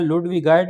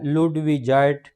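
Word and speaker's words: ludwigite: फिर बोलते हैं लुडविजाइट इसकी दो किस्म की प्रोनाउंसिएशन है लुडविगाइट भी बोला जाता है लुडविजाइट भी बोला जाता है। लेकिन जो असल प्रोनाउंसिएशन है वो है लुडविजाइट पेरिडॉर्ट।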